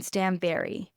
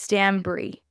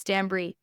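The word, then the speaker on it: Stanbury: but it's not Caroline Stanberry it's Stan Bri Bri as in like it obviously it's spelled b r y but it's pronounced like the cheese like bri b r i e different than Stanberry and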